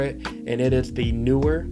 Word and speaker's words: Neewer: and it is the Neewer. I hope it's pronounced Neewer. I've always been pronouncing it that way.